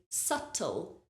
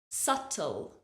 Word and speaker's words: subtle: debt we have subtle notice there is a B in the word but we do not pronounce that b sound so imagine the B is not there we say subtle subtle the next word is